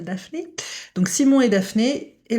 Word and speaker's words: Daphné: Je prononce à la française Simon and Daphne.